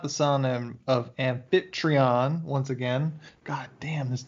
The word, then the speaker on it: Amphitryon: And then as Hercules prepares to leave, his mom tells him that he is not the son of Amphitryon, once again.